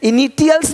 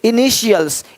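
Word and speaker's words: initials: अब यहाँ पे टी आई है, इनिटियल्स नहीं बोलते, इनिशियल्स, इनिशियल्स, इनिशियल्स। यानी इसी टी आई को जब टी के बाद आई ए हो, आई ई हो, आई ओ हो तो उसको श पढ़ते हैं, श।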